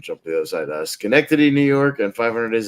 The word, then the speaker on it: Schenectady: I mean, Schenectady, New York, was I or as I mispronounced it once, Synodouche, New York.